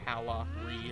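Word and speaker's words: Calahre: itself coven of calorie calorie of course it's spelled like c-a-l-a-h-r-e so it's like oh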